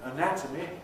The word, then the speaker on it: anatomy: changes in the values because this syllable nat is stressed in anatomy it keeps a strong vowel whereas the syllable before and after weakened me an atom